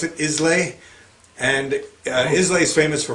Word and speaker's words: Islay: made in the aisle of how do you pronounce it islay and islay is famous for very smoky scotches